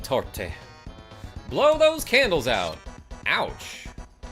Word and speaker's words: torte: We do pronounce the E in torte.